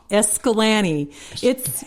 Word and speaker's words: Escalante: in southern Utah called escalan looks like it should be pronounced Escalante but of course the locals it's escalan escalan yes like we